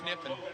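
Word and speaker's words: Kniffen: Nash Niffen. I assume the K is silent.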